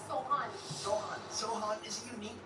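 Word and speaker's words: سوهان: It's Sohan.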